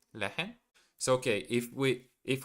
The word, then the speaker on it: lehren: You don't really have to pronounce the the H uh from lehren. Oh, okay. So, it's just le- lehren lehren?